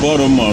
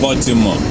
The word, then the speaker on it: Baltimore: It's not Baltimore, it's Baltimore. That's the way Americans call it. When you are in Rome, you behave like Romans. So I'm going to Baltimore. The T is silent. You don't pronounce that T.